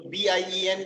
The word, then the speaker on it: bien: IEN will give the sound of ear. So BIEN will be what? Bien.